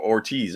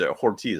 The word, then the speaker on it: Hortiz: same thing like or Ortiz Ortiz I keep saying Ortiz Ortiz one of those I think the H is silent and that's just the